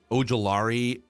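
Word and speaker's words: Ojulari: BJ is pronounced Ojolari from LSU going 30th.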